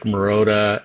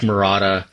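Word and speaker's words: Rick Marotta: And he was getting really influenced by drummers like Rick Marota and um sorry Rick Marada. Um I've always mispronounced his name.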